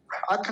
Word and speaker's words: अथ: चल जाएगा पहला शब्द अथ देखि यह शब्द जहां भी आता है लोग इसका गलत उच्चारण प्राय करते और इसको बोलते अथ अथ नहीं अथ थ थ का का पूरा ध्यान रखना है